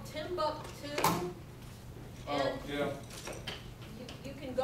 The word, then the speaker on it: Timbuk2: They're called Timbuktu. Oh, yeah. You can go on their website. It's spelled TIMBUK2.